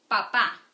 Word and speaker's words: papá: Papá. It's ending with a vowel, so accent there.